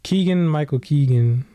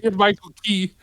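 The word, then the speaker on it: Keegan-Michael Key: Like Keegan Michael Keegan. Is that his name? Did I say it right? Keegan Michael Key.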